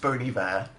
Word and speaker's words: Bon Iver: It's pronounced Bon Iver.